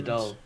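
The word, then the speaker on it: Dáil: over there parliament oh we call it the doll we've doll the doll it's d a fodder like l but it's pronounced doll because a okay a with a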